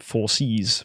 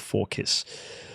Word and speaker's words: Forkiss: Some of you may pronounce it 4Cs, but yeah, I go with Forkiss.